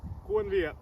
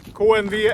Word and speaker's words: KNV: Idag ska vi kolla på en kniv från svenska Jackkit. Och det är deras KNV, eller kniv kanske det uttalas. KNV 2.